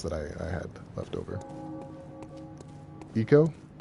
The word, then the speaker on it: Ico: Eco. The game that everyone pronounces as Ico.